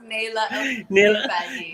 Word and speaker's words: Naelah Alshorbaji: Naelah Alshorbaji, in case anybody wants to know how it's pronounced. Naelah Alshorbaji.